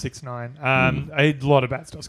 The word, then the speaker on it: 6ix9ine: yeah, it's pronounced 6ix9ine.